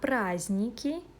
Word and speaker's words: праздники: На праздники, по праздникам. Holiday – праздник, holidays – праздники. Be careful, we don't pronounce d.